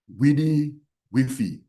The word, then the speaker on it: WDY-WFY: It boils down to the acronym WDY-WFY, pronounced Widi Wifi, which means, what do you want for yourself?